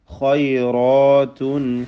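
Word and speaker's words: خيرات: ഖൈറാത്തുൻ ഹിസാൻ, ഖൈറാത്തുൻ, ആ തൻവീനിനെ ഇൽഹാർ ഹൽക്കി നൽകി മണിക്കാതെ വെളിവാക്കണം. ഖൈറ, അതിൽ ഖാ റാ റാഇൻ്റെ അലിഫ് ഇതൊക്കെയും എന്ത് വേണം? തഫ്ഖീം ചെയ്യേണ്ടതുമാണ്. ഖൈറാത്തുൻ ഹിസാൻ.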